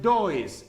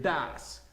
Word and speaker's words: does: Ojo que la pronunciación de este es simplemente do y este no es does, este es das. Hay gente que dice does, pero no es así, es das. Entonces do y das.